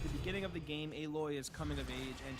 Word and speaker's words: Aloy: So in Horizon, you play as Aloy, and yes, that is how you pronounce her name, not Alloy. Anyway, you play as Aloy, a member of the